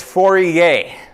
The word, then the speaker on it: Fourier: You tell me what this word reads. Fourier. Pretend you're French. Go. It's Fourier analysis.